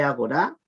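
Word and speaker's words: ἀγορά: Agora se lee agorá, que significa plaza.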